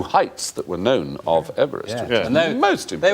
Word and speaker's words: Everest: No, we shouldn't call it Mount Everest because he didn't pronounce his name Everest. He pronounced it Everest.